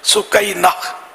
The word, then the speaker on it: سکینہ: تو یہ ہے اس کا اصل تلفظ سکینہ.